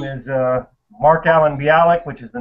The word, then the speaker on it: Bialik: are okay my name is uh mark allen bialik which is the name of my channel bialy that's how it's pronounced yeah bialik and i do um you